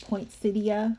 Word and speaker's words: poinsettia: the front with these poinsettia ornaments. And I've also heard people say poinsettia, which is probably the more correct pronunciation. I'm so used to just saying poinsettia.